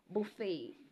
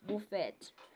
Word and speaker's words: buffet: it's not duvet yeah Buffet it's not bouet you understand such things